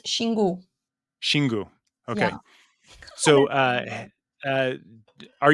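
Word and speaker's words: Xingu: you pronounce it properly in Brazil we pronounce shingu okay so uh uh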